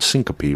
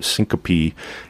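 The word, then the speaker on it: syncope: a term that we go on it's called Syncopy which is basically passing out Syncopy is the medical term for a brief loss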